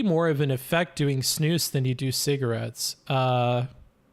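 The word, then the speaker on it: snus: you be better off snooze pronounced snooze like loose is a smokeless moist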